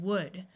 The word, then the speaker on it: would: exceptions you should know use the uh sound of could should and would notice that the L is silent in all of these words while AI almost always